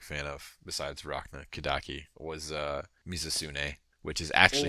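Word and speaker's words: Mizutsune: and I'm like, yo, that's not Mitsune, that's like Mizusune.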